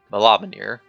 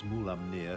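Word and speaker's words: Mulaamnir: Yes, I spoke with the dragon Mulaminir. I think I butchered that again.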